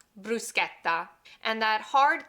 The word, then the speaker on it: bruschetta: The real way to pronounce it is bruschetta, bruschetta. And that hard K sound that we hear comes from the Italian C-H-E. When you have a C-H and an E together, it makes the K sound, bruschetta.